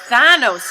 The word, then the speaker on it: Thanos: move to our next oh I've been pronouncing that wrong it's Thanos isn't it nothing shall ever separate